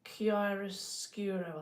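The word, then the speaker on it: chiaroscuro: So, another painting technique that I like to use is it's called kiroscuro. I think that's how you say it.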